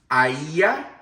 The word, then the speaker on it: Aiea: Jane is from Aiea, Hawaii. It's spelled A-I-E-A.